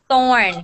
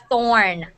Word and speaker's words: thorn: of words with pronunciation thorn can everybody say it for me thorn thorn thorne okay now say torn can you guys see the difference so this is this